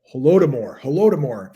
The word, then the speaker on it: Holodomor: Man, I looked that up with the pronunciation. I'm not sure that's right. Holodomor is how you say it.